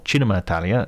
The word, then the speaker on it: Cinema Italia: It's called Cinema Italia, or Cinema Italia, if I give it the proper Italian pronunciation, and will feature guests